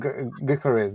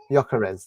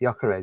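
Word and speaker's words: Gyökeres: There's uh how do you say his name? Garez. Garez. Garez. Whatever. Yakarez. That's it. Yakarez. You got Yakarez, you got Ekit, you got um Aimmen.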